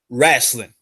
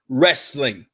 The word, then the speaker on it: wrestling: on time it's now it's not pronounced wrassling okay I don't know